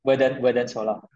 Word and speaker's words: Verdant Solar: Yeah, Verdant Solar.